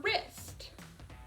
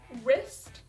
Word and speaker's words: wrist: a tricky word because the w actually is silent and you just hear the r which is an r sound so that can be